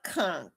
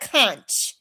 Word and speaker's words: conch: saltfish, but I love conchk. I love conch. Yes, I do. I love it. And you know, most people don't know how to say it. It's not Kunch.